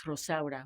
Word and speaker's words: Rosaura: because no one could pronounce Rosaura when I was growing up.